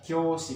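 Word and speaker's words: 教師: Kemudian kyoshi, kyoshi ini kyoshi bacanya, bukan kyoshi tapi kyoshi, panjang o-nya, artinya guru atau guru.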